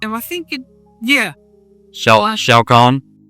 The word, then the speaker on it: Khan: Shao Khan? Spell that for me, somebody.